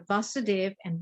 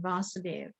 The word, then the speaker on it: Vasudeva: is a difference between vasudev and vasudeva vasudev is the father of krishna and vasudeva is krishna so there's a long a the long a represents krishna and the short a represents the father right so so oh